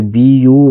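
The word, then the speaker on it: buy: जैसे बी यू वाई इसको पढ़ते हैं बाय।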